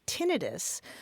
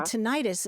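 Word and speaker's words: tinnitus: jbes with mine uh usually hearing medical professionals say tinitus uh rather than tenius I I think the rest of us tend to say tenius just by analogy with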